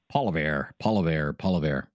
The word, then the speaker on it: Poilievre: Poiliev, I've heard his name pronounced a dozen different ways, I think, over the years. A very popular one is Poilievre, which we used to say in the Ottawa area, in the news business